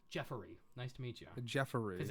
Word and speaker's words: Jeffery: Jeffery. Because it's E-R-Y. Oh, Yeah, okay. yeah. Jeffery. Jeffery. Yeah. Gotcha. I'll be And calling when you there's multiple Jeffery from Jeffrey now on.